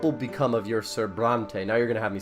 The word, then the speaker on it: Brante: by Italian names and in Russian it is actually not brown but it's Bronte yeah I'm sure that's actually how you say it in English Bronte but I don't I